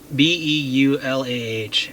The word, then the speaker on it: Beulah: I can either take Lake Ridge Drive or Pitt Road, I'll show you on the map here, to, I can't even pronounce the road. B-E-U-L-A-H, Beulah Church Drive.